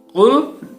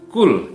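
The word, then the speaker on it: قل: surat al-falaq cop ya kata pukul ini tidak dibaca dengan menggunakan huruf qaf ya tapi di kita dibaca dengan menggunakan huruf Kaf ini sering terjadi dan kita dengar ya yang benar adalah full huahad bukan kulhu allohu ahad Qul dengan huruf qaf artinya Katakanlah sementara cool dengan huruf Kaf artinya adalah Makanlah full huwallahu Ahad Katakanlah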